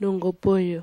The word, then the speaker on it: Nunggubuyu: How do you pronounce the name of your language? What do you call it? Nunggubuyu.